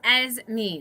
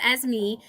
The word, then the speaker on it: Esme: you can see that esme is pronounced as me so i love this